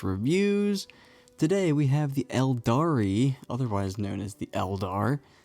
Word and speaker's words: Aeldari: today we're going over the elari emphasis on the E even though it's spelled with an a these are your typical